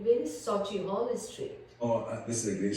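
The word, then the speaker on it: Sauchiehall Street: And they said, oh hen, it's Sochi Hall Street. And I said, no, it's spelled as this.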